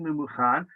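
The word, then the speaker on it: Memucan: That is to say, we pronounce it Mumuchan, but the way it's written by the Sofer in the scroll is, hopefully you may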